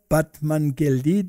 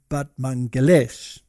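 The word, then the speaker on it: Batmanghelidj: this one over here batman but apparently you pronounce it but mangalesh now he was an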